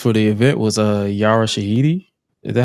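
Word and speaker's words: Yara Shahidi: Uh one of the one of the attendees for the event was uh Yara Shahiti.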